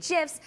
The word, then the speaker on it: GIF: By the way, the inventor of the GIF says, yes, it's pronounced with a J sound.